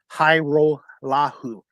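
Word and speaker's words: Hajrullahu: And finally, we'll wrap this up with my post-game interview with Argos kicker Liam Hairolahu.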